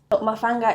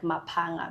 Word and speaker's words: Mapanga: Mafanga is actually a surname, also not pronounced as Mafanga, but Mapanga, because it's not an English word.